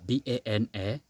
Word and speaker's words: Banaemba: Banaemba, B-A-N-A-E-M-B-A, Banaemba. And for Malava also has the same pronunciation, but if you write it, it's not the same.